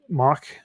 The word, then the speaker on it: Moq: i like to use mock uh moq pronounced mock or mock u there's their site actually says you can say it either either way another popular one out